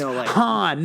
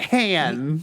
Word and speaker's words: Han: It's like it's pronounced Han, not Han.